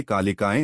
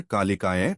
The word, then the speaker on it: कालिकायै: की आवाज होती है कालिकाय इसे कालिकाएं न बोलकर कालिकाय बोले य पर थोड़ा जोर दें नमः अंत में विसर्ग